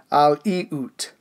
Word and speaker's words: Aleut: When it comes to the Aleutians, I should have been saying Aleut this entire time.